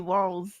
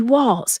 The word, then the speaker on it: Walz: With the Z, I pronounce the Z Walls. Well, Yeah. well, it's going to be Walz.